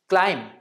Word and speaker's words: climb: client is incorrect while climb with a B silent in it is the correct pronunciation plumber is incorrect and